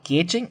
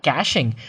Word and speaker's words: caching: Guys, it's called caching or caching as well. So in case if you're asked about caching, well, it's pretty much the same meaning as cache as well. These are two pronunciations and both mean the same thing.